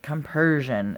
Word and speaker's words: compersion: Compersion. It's like compassion, but it's most definitely compersion. It's not spelled like compassion.